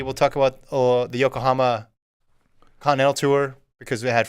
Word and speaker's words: Yokohama: Bermuda Grand Prix we'll talk about uh the Yokohama Continental tour because we had Fred Curley in it mostly talk about Fred Curley I thought I said Oklahoma no Yokohama oh okay might don't pronounce that